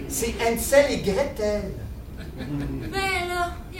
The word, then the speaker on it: Gretel: et Brotel c'est et Gretel ben là il y a pas de grands méchant l dans et Grelle non c'est PASC et Gretel ça se prononce enc et gr c'est pas breton c'est allemand les frères grim tu